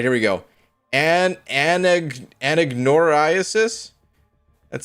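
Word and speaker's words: anagnorisis: term for that is anagnoriasis. All right, let's take it to Google. That was my my best guess. Let's see. Anagnoriasis. Okay, I wasn't saying it correctly either, but close enough.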